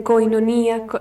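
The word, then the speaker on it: κοινωνία: Y eso de koinonía, quinonía. Quinonía, sí. Los diptongos EI o I en griego moderno se pronuncian I. Quinonía.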